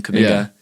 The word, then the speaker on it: Kuminga: That's how you say his name, Kuminga.